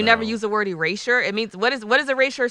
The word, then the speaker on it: Erasure: Erasure Erasure. by Erasure. You It was know not what Eraser.